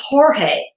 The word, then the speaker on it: Jorge: in the Spanish language letter G is often replaced by the J and pronounced with an H for example George becomes Jorge of course this is